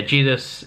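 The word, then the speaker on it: Zedus: It's spelled with a Z, actually, Z-E-D-U-S, but it's pronounced with a J. So yeah, Jedus is a cool looking kaiju, and visually this looked the best, to be fair.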